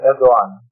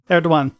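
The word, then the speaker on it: Erdoğan: on because, and you're going to have to pronounce the name of the Turkish president for me. Recep Tayyip Erdogan. Erdogan.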